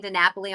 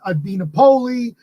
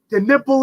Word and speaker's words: DiNapoli: you said it perfect i have italian people they call me dinapoli the nipple it's the stuff that